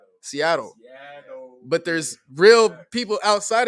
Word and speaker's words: Seattle: seattle washington slang is we don't pronounce our t's when people say seattle like i just said seattle it sounds like it with a d seattle but there's real people